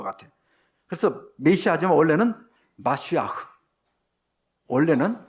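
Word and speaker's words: מָשִׁיחַ: 잘 하기를 싫어했던 거 같아 그래서 메시지만 원래는 마쉬아흐 원래는 마쉬아흐요 근데 이것이이 히브리어를 헬라어로 번역할 때 크리스토스 번역했어요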